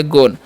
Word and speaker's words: gone: और GONE तो यहाँ पर भी जी का उच्चारण ग, ओ का उच्चारण ओ, एन से ना तो हो गया गोन।